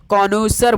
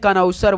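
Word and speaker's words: connoisseur: होता है ना, उसको हमेशा याद रखिए दोस्तों, कॉनौसर बोलते हैं। क्या बोलते हैं, कॉनौसर बोलते हैं। भाई स्पेलिंग देख लीजिए भाई आप लोग ध्यान से,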